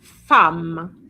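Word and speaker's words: femme: So, the first one is fam. It's as if you had an A there. Fam, but there's no A.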